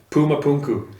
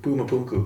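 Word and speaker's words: Puma Punku: it's amazing how do you say that again Puma punu pum p u m pum yeah p u m u p u n KU Puma punu Puma punu yeah in Bolivia yeah it is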